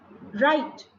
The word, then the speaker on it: write: Right, the word right, WRITE, has silent sound of the letter W.